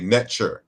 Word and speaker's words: Netcher: So the ch in netcher is a palatalized velar. So the earlier pronunciation included a K sound.